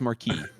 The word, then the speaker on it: Marquis: John John received pronunciation it would be pronounced Marquis I don't give a it's Marquis I'm pronouncing the way the French do and and and like